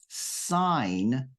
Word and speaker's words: sign: in there Sig signature in the related verb sign that g is silent okay so you sign